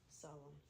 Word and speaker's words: solemn: Solemn. All right. Yeah. Think of Solomon.